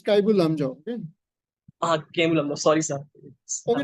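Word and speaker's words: Keibul Lamjao: Kemlamjhao National Park. You should go back and check the correct pronunciation of that. Okay, sorry, sir. It's Kaibul. It's Kaibul Lamjao.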